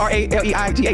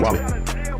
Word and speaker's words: Raleigh: But it's spelled R-A-L-E-I-G-H. Raleigh. That's Raleigh. Close enough.